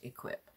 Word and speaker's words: IHKWIP: this brand is called equip if you guys have heard of that it's spelled i h k w i p pronounced equip and this is just